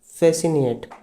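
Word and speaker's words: fascinate: next आता है आपका फैसनेट ठीक है इसमें भी आपका क्या होगा इसमें आपकी सी साइलेंट हो जाएगी और जब सी साइलेंट हो जाएगी तो फैसनेट इसको इस तरह से हम बोलेंगे ठीक है इसका मतलब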